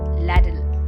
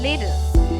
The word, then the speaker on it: ladle: it is often incorrectly pronounced as ladder please remember L a would be pronounced as delay and not lair so the correct pronunciation of the word is later colander is a bowl